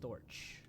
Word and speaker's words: Storch: Oh, that's pronounced Storch.